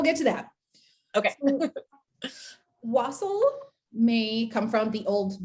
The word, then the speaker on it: wassail: That is spelled Wassail, which to me should be pronounced wassail. It like annoys me that it's not, but I know it's wassail because there is that song, Here We Come a Wassailing.